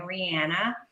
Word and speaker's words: Rihanna: Thank you, Rihanna, because she recently told us the proper way to say her name, Rihanna.